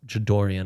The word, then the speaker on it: Jadarian: Jadarian Price, Jadorian I think is pronounced, goes 28th.